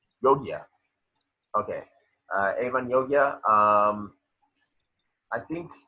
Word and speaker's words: Jogia: Avon Jogia, the guy from Victoria. Huh? Yogia.